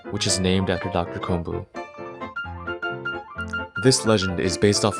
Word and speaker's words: 金武: Furthermore, while the characters in his name could be pronounced as kon and bu in Japanese, becoming kombu, the version I read has those characters read as komu and mu, respectively.